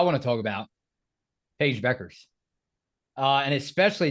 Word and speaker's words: Bueckers: Beckers that is Ryan uh this is Paige Beckers earns her first career double double in the